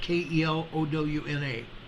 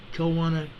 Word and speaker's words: Kelowna: I think that's how it's pronounced, Kelowna, Kelowna, Canada.